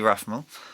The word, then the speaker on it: Rathmell: We've got someone who I've met here in Chiang Mai, Rathmell. Sorry, I should have asked. Is that how you pronounce it? Yep, perfect. Rathmell.